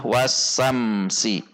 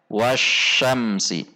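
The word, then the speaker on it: وَالشَّمْسِ: Kesalahan yang biasa terjadi adalah wasamsi. Wasamsi. Seharusnya wasyamsi.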